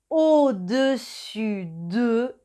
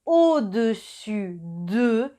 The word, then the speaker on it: au-dessus de: Y una cosita más, la S final de dessus y dessous es silenciosa, o sea que no se pronuncia. También existen au-dessus de y en dessous de.